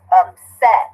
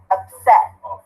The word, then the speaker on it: upset: Upset, right? 2. Okay, do we have a CVC at the end? Yes. Consonant, vowel, consonant. Which syllable stress? Upset. Upset. The second one.